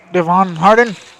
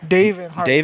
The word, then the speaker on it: Davin Harden: And that is Devin Harden. Did I pronounce that name correctly? I think it's Davin. Davin Harden. Davin Harden. Yeah, there you go.